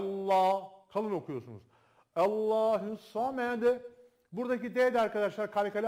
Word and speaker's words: Allah: tanesi arkadaşlar saydıklarımızın dışında lafzatullah Tan önceki harfin harekesi Üstün veya ötürü ise lafzatullah anlamı ince olmasına rağmen kalın okunur dedik Burada da aynı şey geçerli Allah'ı Allahu Allah var diyor